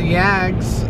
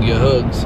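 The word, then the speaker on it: YAHG: a HG the uh the H is silent your hugs is really how it should be pronounced but yags just cuz it's easier than saying y hugs and it sounds better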